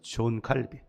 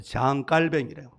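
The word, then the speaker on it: Jean Calvin: 종교 개혁 시대에 정말 위대한 여러 종교 개혁자들이 있는데 존 칼빈 이건 이제 영어식 발음이고 그 사람 프랑스 사람인데 장갈뱅이래 뭐 그 사람들 여러 가지 막 이야기하는데 이분은 천재해요.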